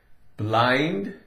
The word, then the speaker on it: blind: different things put together blind BL blah i n d i n is in d d but it's not blend this changes I in D sounds like a long I sound BL blah blind blind